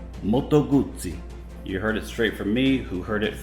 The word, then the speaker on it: Moto Guzzi: ducati in italian ducati and here's the proper way to pronounce moto guzzi moto guzzi moto guzzi you heard it straight